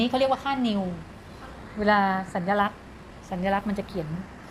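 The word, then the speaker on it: ν: ดู ยาก นิด นึง เรียก ว่า New อ่าน ว่า นิว ไอ้ ตัว นี้ มิว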